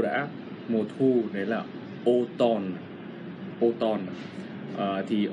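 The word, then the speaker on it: automne: Đấy là Autumn, đấy là O-N-N-E, sẽ không phải nhé, mà là O-M-N-E, nhưng lại đọc là Autumn.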